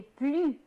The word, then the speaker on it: plus: Vous faites attention, mes chers élèves, que ici, on ne prononce pas le S dans plus. On dit, ce peintre est plus performant que l'autre.